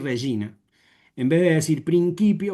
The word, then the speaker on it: regina: Entonces, como bien decía Elena, en vez de decir reguina, vamos a decir regina.